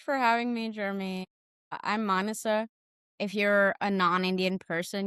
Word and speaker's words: Maanasa: I'm Manasa. If you're a non-Indian person, you can remember my name like Vanessa with the M at the start, but it's pronounced Manasa.